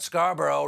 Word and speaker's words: Scarborough: I'm talking about Scarborough, rhymes with Marlboro, one of the great cigarettes.